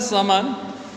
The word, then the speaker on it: sermon: Student SERMON इसका pronunciation होता है समन। जब भी आर से पहले वाउल आए तो आर के साउंड को हम लंबा कर देते हैं, ए का प्रोनाउंसिएट ज़्यादा करते हैं, समन एट बनारस।